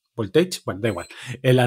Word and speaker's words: Voltage: scot voltaje o voltage cómo se pronunci esto voltage voltaje eh con g con lo cual es voltage bueno da igual en